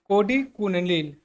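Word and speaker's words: Kodikunnil: होते हैं, ये होते हैं आपका कोडी कुनिल, कोडी कुनिल। यहाँ पे देखेंगे मैं लिख रहा हूँ, कोडी प्रोनाउंसिएशन करना कैसे, कोडी कुनिल, ठीक है।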